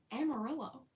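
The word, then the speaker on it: amarillo: things differently so like amarello Double L is like a y in Spanish and so it's like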